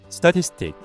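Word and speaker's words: statistic: St티스틱 발음은스틱 가운데 티스의 강세를 줍니다.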